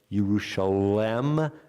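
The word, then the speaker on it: ירושלם: the last yud and so the grammar would call for it to be pronounced yerusalem not indicating that something is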